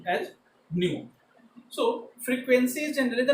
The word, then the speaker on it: nu: This is which is pronounced as nu.